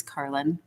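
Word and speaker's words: Karlyn: do do a lot and my name is carlin hi i think i think i see i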